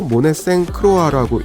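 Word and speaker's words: Monet St. Croix: 그래서 첫 번째가 엠마 프로스트, 마블스의 팡, 세 번째 프랑스식 발음으로 모네생 크로아라고 읽더라고요.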